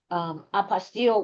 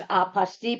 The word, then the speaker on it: apostille: Apostille, which seems to be the official pronunciation, and then there's apostille, but guess what?